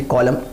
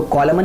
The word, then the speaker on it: column: ठीक है, चलिए मैं आपको दूसरे वर्ड बताऊँ, जैसे कॉलम, तो COLUMN कॉलम, इसको कॉलमन नहीं बोलते, इसको बोलते हैं कॉलम।